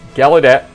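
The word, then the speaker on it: Gallaudet: ainson at uh galet the U is completely silent and so when we pronounce it it's gadet School National School of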